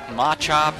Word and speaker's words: Machop: one coming up is matchup now I know some people call it Machop or something like that but I call it matchup so you can pronounce